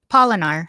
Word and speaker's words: Polinar: Polinar, like pollinating.